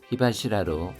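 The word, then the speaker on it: 火柱: 하시라가 원래 기둥이란 뜻인데 히와 합쳐져서 히바시라로 발음이 바뀌었습니다.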